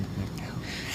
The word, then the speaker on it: McNelley: It's hard it's not Rand McNally. It's McNally.